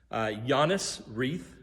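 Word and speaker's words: Johannes Reith: John Reed, who's the dad's name, Giannis Reith is the actual pronunciation.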